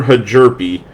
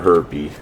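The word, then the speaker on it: Hjerpe: I'll just go with how it's spelled. Connor Hajerpe. Rather not call him Connor Herpy. So that's what I'm getting.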